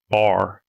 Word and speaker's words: bear: Plus, you're originally from East Tennessee, so you guys would pronounce bar like that. Bear like that, right? So, good. Yeah, good country folks would have said bar.